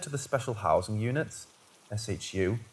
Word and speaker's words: SHU: All of those solitary confinement inmates were either transferred to the Special Housing Units, SHU, pronounced SHU, had their cases re-examined by our in-house judge, or dropped entirely.